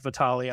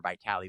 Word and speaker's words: Vitali: So when we came to America, if I'd say my name to another American, Vitali, people say it just fine. But if they read my name, they say like Vitally or Vitali. They maybe sound like an herbal supplement.